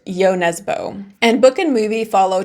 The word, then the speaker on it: Jo Nesbø: looked it up on, his name is pronounced Jo Nesbø.